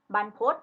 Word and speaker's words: บรรพต: ฉีก นะ คะ อ่า เรา อ่าน ว่า บรรพต banpodj ก็ คือ ภู เขา